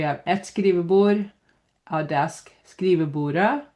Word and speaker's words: skrivebordet: So here we have et skrivebord a desk skrivebordet again we don't say the T the desk skrivebord desks